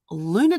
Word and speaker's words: lunner: Luna date with myself and you're probably going Luna date yes it is spelled l-u-n-n-e-r it is half of lunch and half of dinner I didn't know what to call it but we'll talk about